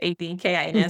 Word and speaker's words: Adkins: kids and my last name is spelled A D K I N. A lot of people see you in there, but it's a kin.